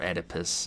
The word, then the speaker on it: Oedipus: It reminds me of Oedipus, you know, O-E. Or Oedipus, as some people say. It's kind of... There's kind of a tradition of pronouncing things like that when you're taking them out of Greek and Latin.